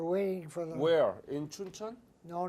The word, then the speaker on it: Chuncheon: I've been in Chincheon, how do you say it? Chuncheon, yes.